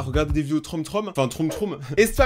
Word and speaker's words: Troom Troom: Aujourd'hui on se retrouve pour une nouvelle vidéo là où aujourd'hui on va regarder des vidéos Troum Troum. Je l'ai bien prononcé cette fois-ci.